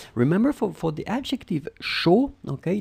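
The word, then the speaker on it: chaud: for for the adjective show okay it ends with the d and it's a common mistake to pronounce it but i mean it's totally silent as in chocolate final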